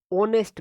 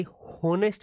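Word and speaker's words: honest: ऑनेस्ट मैन। ये होनेस्ट मैन नहीं है मेरे भाई।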